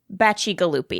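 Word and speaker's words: Bacigalupi: And I should just say that it's Baci Galuppi is how he says it.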